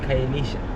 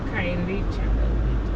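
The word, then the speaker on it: Khayelitsha: I could have called it Kaelisha. Yeah, you pronounce it cha. SH. Kaelecha.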